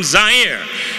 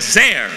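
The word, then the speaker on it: Zaire: how had coel coming to you live from zier some would pronounce it zir they're wrong it got big laughs and then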